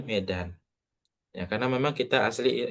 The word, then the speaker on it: Medan: Medan, bukan kita meskipun tulisannya Midan, ya, tapi cara cara bacanya tetap Ana min Medan.